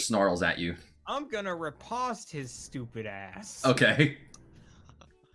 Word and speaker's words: riposte: I'm gonna riposte his stupid ass. Okay. Riposte? Yeah, that's the correct pronunciation.